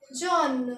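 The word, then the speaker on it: jaune: तो येलो को हम लिखेंगे ऐसे और इसको प्रोनाउंस करेंगे जॉन क्या बोलेंगे जॉन कितना अलग लग रहा होगा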